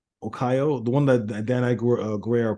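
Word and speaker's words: Okoye: Okeo. I keep pronouncing it wrong. O Okayo, the one that Dan Guerrero plays.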